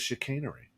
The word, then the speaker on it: chicanery: uh you know it's its pronunciation is obviously tricky and and we'll talk about chicanery oh chicanery yes canary cannery i've always said canery i would say yeah it is it is chicanery i guess i guess it